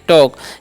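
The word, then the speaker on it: talk: और TO है तो इसे हम लोग पढ़ते हैं टू, और TL के इसे हम लोग पढ़ते हैं टॉक। यहाँ पर L साइलेंट होता है, ओके।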